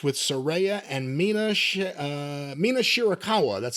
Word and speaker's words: Mina Shirakawa: the finish of May versus Cameron with the postmatch with Sera and Mina uh Mina shirakawa that's how you say it kiss kissy girl